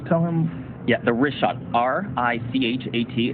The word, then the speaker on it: Richat: Yeah, in the first couple, I just want to say it's Richat. I used to call it Rickot. I was mispronouncing it.